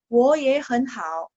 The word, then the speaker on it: 我也很好: Wo-nya jadi nada 2, ye-nya jadi nada 2, hen-nya jadi nada 2. Tinggal hao yang nada 3 ya. Cara baca ya, cara baca. Jadi, wo ye hen hao.